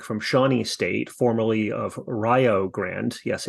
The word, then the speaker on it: Rio Grande: Shawnee State formerly of Rio Grande yes it's Rio Grande Ryo rhymes with Ohio and that's important for